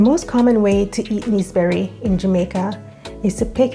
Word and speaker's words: naseberry: Naseberry, pronounced as neeseberry in Jamaica, also known as sapodilla, is a tropical fruit native to the Caribbean and Central America.